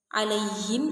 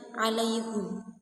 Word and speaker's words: alaihum: Nah, yang seperti penjelasan tadi, shadnya itu menjadi za karena halaf, dan alaihim itu dibaca alaihum.